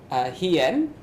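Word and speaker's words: 飛燕: For the Japanese, the Ki-61 made by Kawasaki is called the Japanese pronunciation is Hien, which roughly means like the flying swallow, like named after the bird.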